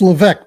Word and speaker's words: Leveque: It's Leveque, by the way. So it's that French thing that gets in the way all the time.